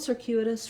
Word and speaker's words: circuitous: So I would build circuitous from the U part. So letter U has the glide y and the u, and then add your k sound. So trying U, Q. It's actually how we pronounce letter Q. So that may help you as well to visualize that if you can think of it that way. And then we still have our sir beginning, just like we have